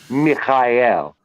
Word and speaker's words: Michael: and the help of the Archangel M Mikel Michael but properly pronounced Mikel and it works it does and and and